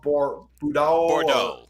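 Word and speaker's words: Boudreaux: Bordeaux.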